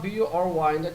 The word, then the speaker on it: bury: 이 단어가 B-U-R-Y인데 특이하게 발음이 bury, 에 발음이 나요. bury.